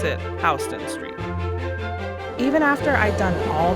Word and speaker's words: Houston Street: at a cab that cuts you off, or pronounce it Houston Street.